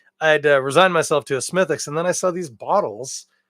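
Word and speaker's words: Smithwick's: you probably call it Smith Wicks but in most cases uh we don't pronounce the W in those British place name pronunciations or Irish in this case so for instance it's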